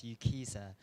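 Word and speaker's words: UKCISA: I'm from UK Council for International Student Affairs, known as UKISA. If it's easier, it rhymes with visa.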